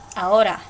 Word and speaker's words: ahora: In Spanish, you never, ever, ever, ever, ever, ever, ever pronounce the H.